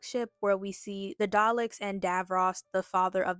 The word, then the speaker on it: Daleks: I'm trying my best to pronounce the L correctly.